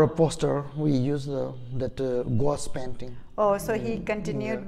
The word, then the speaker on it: gouache: Especially for a poster, we use that gouache painting. Oh, so he continued with the gouache. We pronounce painting.